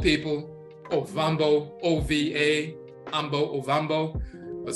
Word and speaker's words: Ovambo: But you also have in Namibia and Angola, you have the Ovambo people. Ovambo, O-V-A, Ambo, Ovambo, but some of them pronounce it Owambo with the W.